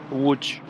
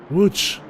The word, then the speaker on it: Łódź: Łódź. Łódź. Yeah, almost. So that is like a W. The L with the strike through is like a W. Ły. Where? Łódź.